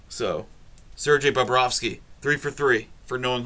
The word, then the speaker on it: Bobrovsky: sergey bobrovsky i um i always managed to pronounce that one right because it sounds like a name you'd hear on south park so sergey babrowski three for three for